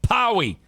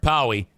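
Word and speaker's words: Pauwee: Powie. P-A-U-W-E-E. Text or call Eric Powie at Oakland Auto Detail.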